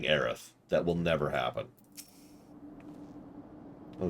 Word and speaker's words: Aerith: Eris is how I prefer to say it because that flows a lot better in English. Aerith, really emphasize that. Really emphasize the two the two syllables. Aerith. Actually kind of effectively make that. That would actually work better. But if you try to slur them together like Aerith, it just kind of...